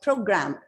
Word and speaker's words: program: So the first syllable pro is stress. It's not program, it's program. Program.